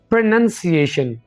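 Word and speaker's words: pronunciation: पर इसको पर उन्हीं बोलना बल्कि वैसे बनेंगे प्रनंसीएशन प्रनंसीएशन आफ के थ्रू न न न न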